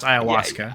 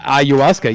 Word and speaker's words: ayahuasca: hey how about that Ayahuasca is pronounced Ayahuasca Ayahuasca yeah yeah he believed that